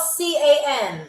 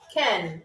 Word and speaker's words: ken: And it is not spelled C-A-N, so it's not can. Ken, like a Ken doll. What do y'all think that means? What do y'all think that it means? Ken. Okay, it's spelled like Ken doll, not a can of beans.